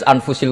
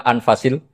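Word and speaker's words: أنفس: Di sini ditulis anfusil kutub. Kalau saya baca anfasil kutub karena maknanya kitab ter baik. Kalau kitab terbaik bacanya bukan anfus tapi apa? Anfas.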